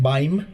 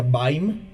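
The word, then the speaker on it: Bajm: Una de las bandas más populares es Baim, B-A-J-M, pero se pronuncia Baim.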